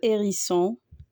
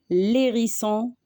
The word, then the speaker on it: hérisson: On dit le hérisson, les hérissons. On ne dit pas l'hérisson, les hérissons. Avec le H aspiré, c'est comme le H qui bloque la prononciation, alors on ne met ni liaison ni élision.